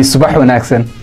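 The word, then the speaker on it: Subax wanaagsan: That would be subah wen accent.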